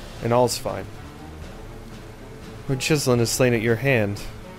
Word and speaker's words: Ghislaine: from me I'm pretty that is how they pronounced it right it was it was jlin gosh your name straight